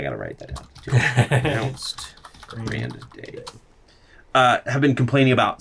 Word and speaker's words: Grande: not grande grande is how actually how it's pronounced r a n d a y Grande I gotta write that down anounced Grand day uh have been complaining about some items like